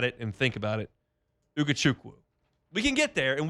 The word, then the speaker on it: Ugochukwu: But, the latest today, Divine Ugochukwu Ugochukwu Ugochukwu Ugochukwu Ugochukwu I missed it. No, it's Ugochukwu. You said it right the first time. Ugochukwu Yeah.